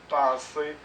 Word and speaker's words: penser: prononce pas le R penser on ne prononce pas le r manger on ne prononce